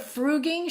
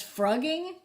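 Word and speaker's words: frugging: she wrote the book instead of fruging she says frogging are you sure it's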